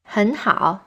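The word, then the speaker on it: 很好: you say my tea han hao means very good both words are in the third tone means my tea is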